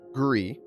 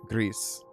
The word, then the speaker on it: Gris: We We were calling it Gree, right? like the French word for for gray. And then uh one of our friends here pointed out that it was made by a Spanish studio, so it's probably Greece, right?